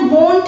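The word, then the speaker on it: won't: अब देखो वोंट को समझो, विल नॉट की कॉन्ट्रैक्शन वोंट है, इसको वोंट प्रोनाउंस करना है, वोंट।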